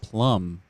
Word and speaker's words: PLM: on the plasma network is plm and pronounced plum oh okay plum will